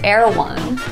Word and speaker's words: Erewhon: about going to heirloom erawan market pronounced air one is a california luxury